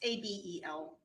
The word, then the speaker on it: Abel: Abel, but I believe it's pronounced a different way. It's Abel. Abel, thank you.